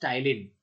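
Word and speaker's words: ptyalin: is also known as टाइलिन प silent होता है इसमें टाइलिन को भी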